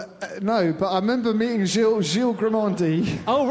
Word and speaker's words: Gilles: So my name is actually Gilles, not Giles. Yeah. But until Gilles Grimandi came to Arsenal, people actually knew how to say my name properly. So it's Gilles Peterson, not Giles Peterson, like Grimandi.